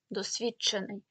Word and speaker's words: досвідчений: закінчення досвідчений До речі при вимові буде чутися ти досвідчений теж це відбувається асиміляція фонетичній